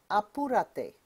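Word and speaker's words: apúrate: to hurry up is Aur repeat after me aurate again Aur Aur hurry up how do you tell someone hurry up aurate last time how do you tell someone hurry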